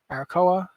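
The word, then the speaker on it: Arakkoa: Arakoa? Is that how you pronounce it?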